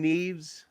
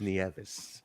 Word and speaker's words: Nieves: maybe he kept saying neves tiffany knees pronunciation it could could be pronounced that way absolutely not it's nieves because penzer said it right on the intro nieves anyway anyway yeah